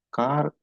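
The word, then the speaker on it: खा: ஹம் கார் ரகே தே. கா ரகே தே. இந்த காங்கிறது கரெக்டா உச்சரிக்கணுங்க. இந்த காங்கிறது கா அப்படின்னு மாறிச்சுன்னா நாங்கள் பாட்டு பாடிக்கொண்டிருந்தோம் அப்படின்னு மாறிடும்.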